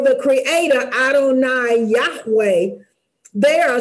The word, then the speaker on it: Adonai: talk about today is Adonai and uh it's pronounced Adonai and Adonai means my Foundation or my Lord